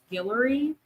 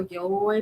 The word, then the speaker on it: Guillory: I think the last name is pronounced Guillory. I always forget if it's Guillory or Gilroy, but I think it's Guillory.